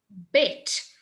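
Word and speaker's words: ב: Bet, with the ball in his tummy. As soon as you get kicked in the tummy with a ball, it's a hard sound, bah. But then if you're not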